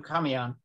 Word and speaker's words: camión: So once again, cuando estaba trabajando in la granja de mi papá, puse la serpiente en su camión. Is the accent on the A, camión? Camión. Camión, truck.